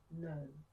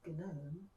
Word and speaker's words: gnome: The answer is gnome. Don't say gnome, say gnome.